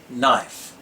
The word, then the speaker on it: knife: When the letters KN are together in a word, the K is silent as in knee and knife.